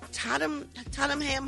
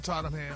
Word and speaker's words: Tottenham: He'll perform at Tatam Tamm Hot. Is that how you say it, Gary? Uh-huh. On Tottenham.